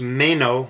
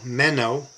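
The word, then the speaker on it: μένω: It's pronounced Mayo. Meno me-o is the Greek.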